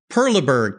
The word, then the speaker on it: Perleberg: at cars yeah calm just type in Perla Berg P er l eb ERG a great German